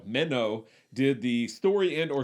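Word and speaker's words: Menno: mino mino my yes it's dutch i'm terrible at dutch pronunciation but minnow did the it's it's m-e-n-n-o i know it makes it sound like i'm saying minnow like a fish but it's m-e-n-n-o meno did the story end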